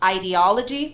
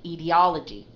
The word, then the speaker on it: ideology: and the secondary stress is on the first syllable so you can say ideology with a long I I or you can say ideology okay okay so either way it's perfectly fine